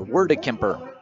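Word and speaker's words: Wordekemper: His last name, by the way, is spelled W O R D E K E M P E R. Word Kemper.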